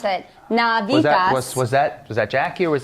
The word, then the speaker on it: Navitas: that Jackie told us exactly how to pronounce it. Navitas.